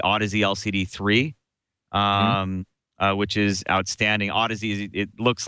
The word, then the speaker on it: Audeze: Audeze, it looks like some people pronounce it Audeze, Audeze.